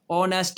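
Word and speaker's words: honest: इसमें भी H silent है। ओ नेस्ट है।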